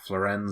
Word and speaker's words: Florenz: Is that how they pronounced it? Yeah. Yeah, Florenz Ziegfeld Jr.